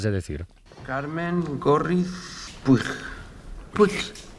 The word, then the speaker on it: Puig: Put, ¿cómo dice? Put. Se pronuncia put. Señora, aquí pone Puch y se lee como se escribe.